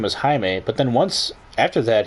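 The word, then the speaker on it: Jaime: take on haime Garcia I think it's Hae or is it Jamie it's actually a guy I work with who his name is spelled like that and he is Hispanic and sometimes my boss would write his name as Jamie even though his name is Hae and I asked him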